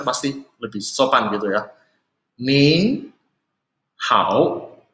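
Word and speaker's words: 您好: Nin hao. Ya, jadi belakangnya pin-innya ada tambah N. Jadi kalian harus perhatikan ya. Bacanya nin hao.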